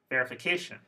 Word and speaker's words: verification: ready verification distribution contamination I hope you noticed that word stress is in the fourth syllable so again the word stress in all of these words is one syllable before the suffix one syllable before the